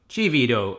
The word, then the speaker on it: chivito: Again, another thing that I probably not pronounce right. Dulce de leche. Dulce de leche. Chivito. Chivito.